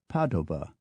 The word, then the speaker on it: Padova: names the locals use in Italian it's not Florence but Fen not Naples but Napoli not Padua but Padova not Venice but Venia not Milan but Milano not Genoa but Genova to the Danes it's